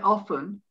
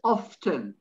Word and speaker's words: often: i must admit it with this word often the t is pronounced i don't say often it's often so i would put a line under the word often and put a question mark on that one is often often not often so i don't i don't agree that that's a silent t on that particular word then there comes the